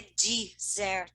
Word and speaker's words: dessert: E é prestar atenção que a sobremesa, a pronúncia é dessert.